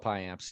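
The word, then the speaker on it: Payamps: I don't know him is that actually how he pronounced his name yoella pie amps yep High amps so as it goes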